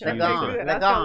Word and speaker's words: Ligon: Ligon.